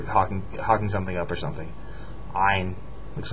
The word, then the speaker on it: ع: This next letter is ein. We don't have this in English. It's, pronounced in the back of the throat. It's not an A. It sounds kind of like an A, but it's not.